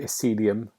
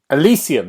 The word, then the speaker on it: Elysium: um i've been playing disco celium have i said it right now elysium that's it disco elysium um which come out